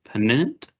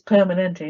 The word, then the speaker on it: Permanente: or the Kaiser, and I'm probably going to pronounce this wrong, permanent calculator. I think it's Permanente, isn't it? Permanente calculator equally, or do they give a preference?